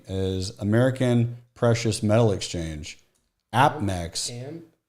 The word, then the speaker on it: APMEX: The reason I'm bringing this up, and it rhymes with Apex, but it's a different company, is American Precious Metal Exchange, APMEX, Ampex, and you're on TradingView.